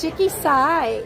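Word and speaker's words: Shiki-Sai: And the other one, how do you pronounce this? Shiki Sai? Yes. Shiki Sai is the other one, and it's a sushi restaurant.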